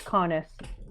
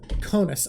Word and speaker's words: Conis: Yeah, it's Conis. Conis, okay. Yeah. The name I was thinking of was also 2 syllables and started with a C, so I